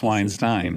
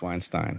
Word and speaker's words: Weinstein: um and you know it's a German word it has a meaning and so there is a correct pronunciation okay and it's Weinstein it's Weinstein all right so you're